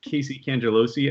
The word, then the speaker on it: Casey Cangelosi: And as well, we have Casey Cangelosi, as always. Nice job pronouncing my name, Ben.